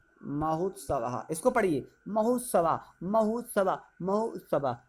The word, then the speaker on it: महोत्सव: लिखा है महोत्सवा, ये क्या लगा हुआ है, महोत्सव, इसको पढ़िए, महोत्सवा महोत्सवा महोत्सवा। देखिए ओ के बाद ऊ का उच्चारण आ रहा है कि नहीं आ रहा